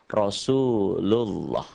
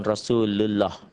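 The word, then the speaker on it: رسول الله: kayak gini nih Hai pokoknya kalau sebelum lafadz Allah ini ada huruf yang berbaris di atas dibacanya menjadi Thalib atau tafkhim atau tebel Rosulullah bukan Rasulullah Rasulullah atau yang ini rohmatullah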